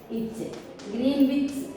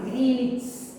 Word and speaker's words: Greenwich: And including 0 degree longitude, that is called Greenwich. Don't pronounce Greenwich. Okay, W silent.